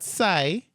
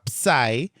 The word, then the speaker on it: psi: Not sigh or psi but psi.